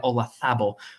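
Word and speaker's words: Olazábal: And then Mike Weir, Vijay Singh, who has missed the last five cuts at Augusta, and then Jose Maria Olazabal, yes, that's how you're supposed to pronounce it, who has not played well at Augusta recently and is actually entering his final Masters.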